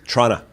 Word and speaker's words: Toronto: all the way from Toronto Toronto you know pronounce that T trata Toronto it's not there's there's actually no O's